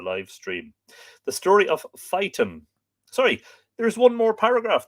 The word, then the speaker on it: Phaeton: That's the Phaeton Greeks, not Fitin or anything like that. Phaeton.